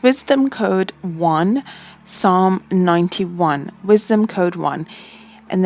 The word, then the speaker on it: Psalm: that's from the Bible so it's P si LM so Psalm I don't think you pronounce this P like psychology Psalm so the screenshot that